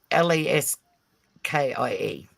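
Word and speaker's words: Laski: it's Leskie. L-A-S-K-I. Okay, Lesky. Yes.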